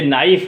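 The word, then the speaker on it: knife: खामोश है आपका जैसे नाइफ नाइफ में के एन आता है के एन के एन दोनों साथ आते हैं तो के यहां पर खामोश हो जाता है नाइफ है नाइट है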